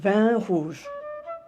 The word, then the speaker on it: vin rouge: 반 후즈.